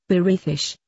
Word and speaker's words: Berethish: As you pronounce the term, Berethish, It is obvious how it compares phonetically to another name we use often in this world called British.